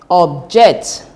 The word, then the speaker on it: object: Take note that the stress should be on the second syllable if it is verb. So it becomes present, present, record, object, import, suspect.